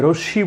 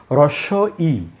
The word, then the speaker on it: ই: এটাকে কিন্তু অনেকে ভুল বলেন, যে রশ্মি বলেন। এটি আসলে রশ্মি নয়। আমরা একটু সাবধান হয়ে বলবো যে হ্রস্ব ই, বাংলায় দুটো ই আছে, হ্রস্ব ই এবং দীর্ঘ ই। আমি উচ্চারণটা লিখি, এটির উচ্চারণ হচ্ছে হ্রস্ব ই।